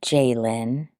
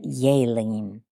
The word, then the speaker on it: Yaline: I think that's how she said you pronounce it in her language. A Puerto Rican sweetheart who cleaned my teeth ever so gently. Thank you so much to, she said, not Jalen, but Yaline.